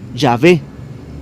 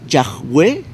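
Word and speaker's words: Yahvé: el nombre de dios ya ve que en hebreo se puede pronunciar como ya ve yagüe ya ve o ya ve como lo conocemos nosotros he visto algunas traducciones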